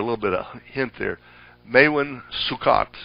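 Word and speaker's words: Maewyn Succat: Maewen Sukot would be a pronunciation. The Hebrew always puts the accent on the last syllable of a name.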